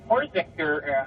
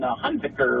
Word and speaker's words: Hunziker: The Vikings also ran Horziker, how do we pronounce that name up again? Hunziker, rather.